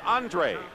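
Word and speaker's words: Andrua: it's incomplete andre thompson he spells his name a-n-d-r-u-a but it's pronounced andre eric wright and dwight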